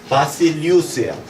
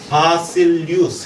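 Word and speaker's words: Βασιλεύς: 바실리우스예요. 바실리우스. 해보세요. 같이 발음 시작.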